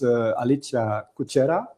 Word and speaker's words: Alicja Kuchera: But next to me is Alicja Kuchera. Is it that? Very well Yeah, okay, pronounced, okay, yeah.